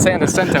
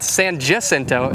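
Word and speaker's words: San Jacinto: saying here is I have no doubt that Santa sento is the correct way to pronounce it but San jento is what I've heard just about everybody say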